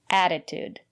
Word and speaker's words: attitude: here's another word attitude the first letter T is pronounced as a fast because the syllable after the letter T is not stressed add it attitude and the second letter T is pronounced as attitude it's important to have